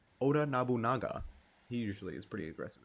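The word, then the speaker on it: Oda Nobunaga: I always mispronounced it. Oda Noanga. Oda Nabunaga.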